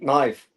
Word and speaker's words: knife: Like knife. It says knife. Why? There's no reason for there to be a K there.